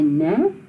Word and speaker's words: né: So then you say ne, like that. Like you're asking, please, won't you, please?